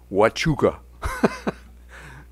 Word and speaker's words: Huachuca: And that happened to be when I was chief of staff, and it's pronounced, Mark, Huachuca.